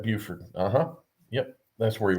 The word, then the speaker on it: Beaufort: he was a um they pronounced it beaufort's inside beaufort yep buford uh-huh yep that's where